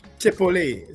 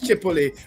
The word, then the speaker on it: Chipotle: I pronounce the T. You say the T is silent. Okay. I learned something. No problem. Chipotle. So it's Chipotle.